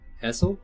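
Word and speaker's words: Esel: One of them is called Essej, which is spelled E-S-E-J, or wait, Essel?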